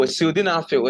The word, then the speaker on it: sildenafil: Oh, sildenafil, it is spelled S-I-L.